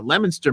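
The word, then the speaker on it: Leominster: coming Sunday on uh in lemonster Mass uh if if you want spelled like Leo Leo um and it's uh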